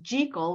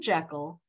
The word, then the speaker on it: Jekyll: despite the fact that it's pronounced jekal rather than Jekyll there is a connection